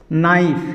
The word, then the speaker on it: knife: जैसे नाइफ जो आप लोग शुरू से जानते हैं, KNIFE, नाइफ। नाइफ मीन्स होता है चाकू। जैसे देखिए यहाँ पे के आया है यानी एन आया है, KNIFE, एन आया है और एन से पहले के है, ये के हो साइलेंट हो गया, साइलेंट।